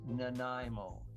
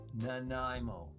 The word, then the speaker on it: Nanaimo: Listen carefully, everyone. It is Nanaimo. Nanaimo. I would hope that people would just figure out how to pronounce Nanaimo.